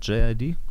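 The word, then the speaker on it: JID: J.I.D., der wird der wohl so ausgesprochen, wie er buchstabiert wird.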